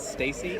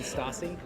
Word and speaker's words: Stassi: I think, didn't you tell me that that your favorite TV character was Stacy, and it should have been Stassi?